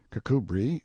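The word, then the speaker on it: Kirkcudbright: Charles mundely Castle Warwickshire pronounced kacubri slanover Marsh Bank sellers Viscount Barkley of Chumley Castle Yorkshire he is standing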